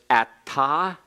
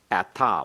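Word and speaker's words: אתה: for the second spelling at TA one has the comments hey one just has the comments everyone pronounce it they're both pronounced Atta then we go the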